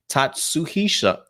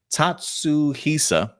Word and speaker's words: Tatsuhisa: to butcher these names tatsuhisha tatsu hisa there we go suzuki and the zenkaija